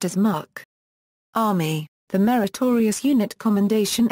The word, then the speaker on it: MUC: meritorious unit Commendation is abbreviated as Mu and pronounced as MK Army the meritorious unit Commendation emblem warn to